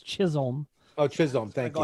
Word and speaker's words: Chisholm: right now casey's not here to correct your pronunciation it's chisholm oh chisholm thank you go ahead and do